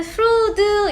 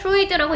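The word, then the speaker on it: Freud: 그것이 심리학자 시그먼드 프루드 이러면 안 돼요.이 사람은 한국에서는 읽어요. 왜냐면 이제 영어 이름이 아니기 때문에 루이드라고 읽고 그럼이 사람은 심리학자기 때문에 그림을 그린게 아니야.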